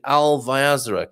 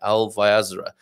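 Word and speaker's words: Alvaiázere: Yes, it was in Alvaiazra. Correct pronunciation and spelling there. Alvaiazra.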